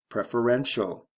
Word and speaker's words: preferential: Preference, preferential. Stress shift, first to third syllable, CE to TIAL.